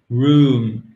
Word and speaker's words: room: Hotel, hotel, room. C'est un ou long.